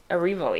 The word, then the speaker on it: Erivo: Erivo? Erivo, yeah.